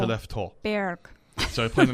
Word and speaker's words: Skellefteå: This is the 4th round pick defenseman, and he is from Skellefteå.